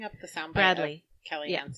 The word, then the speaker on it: Kaliane: It's Kaliane.